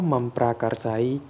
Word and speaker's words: memprakarsai: Oh ya anak-anak, kalian membacanya adalah awalan me, bukan awalan men, ya.